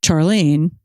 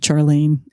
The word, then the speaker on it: Charlene: Art which is about Charlene and by the way I love that she's called Charlene instead of Charlene the way it's spelled that does feel like